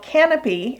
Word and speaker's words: Kanopy: lot of libraries have a service that's called canopy and that's spelled with a k we'll put a link